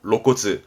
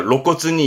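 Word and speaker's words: 露骨: 그래서 발음은 로시츠처럼 드러냄도 쓰는 게 이 로자입니다. 그래서 노골적이다 하는 게 로코츠입니다. 로코츠. 뭔가 로코츠니 이유. 노골적으로 말한다 할 때 로코츠.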